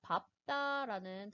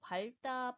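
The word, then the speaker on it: 밟다: 자, 밥다라는 단어는 밥다, 밥소. 우리 보통 발다, 발소라고 잘못 발음하는 경우가 많은데 이 밥다, 밥소가 표준 발음입니다.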